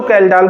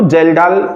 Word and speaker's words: Kjeldahl: कहीं कहीं बुक में कैल्डाल लिखा है, कहीं कहीं पे जेल्डाल लिखा है। जहाँ जेल्डाल लिखा है वहाँ के साइलेंट कर दिया गया है, तो आप जान लें कैल्डाल और जेल्डाल मीन्स एक ही मेथड है।